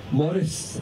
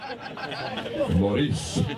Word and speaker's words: Maurice: Maurice has, sorry, that's a Scottish pronunciation. Maurice.